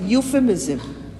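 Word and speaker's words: euphemism: No truck with death is an other literary device यूफिमिज्म। ई यू यूफिफिज्म में जब इयू आता है तो हम ई को साइलेंट कर देते हैं।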